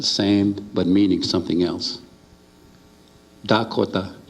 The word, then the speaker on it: Dakota: And to the east of us, across the Missouri River, they speak with a D, Dakota. And to the north across the Missouri, there's the Nakota, they talk with an N.